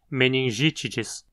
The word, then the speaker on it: meningitidis: Aqui temos um I curto na penúltima sílaba. Então a palavra é proparoxítona, meningitidis. Quase sempre que você vira